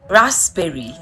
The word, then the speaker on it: raspberry: words with silent letters p is silent in these words receipts pneumonia cupboard some raspberry psychology psychopath pseudonym the letter